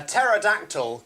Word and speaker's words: pterodactyl: can't you hear a pterodactyl go to the bathroom because the P is silent he's still going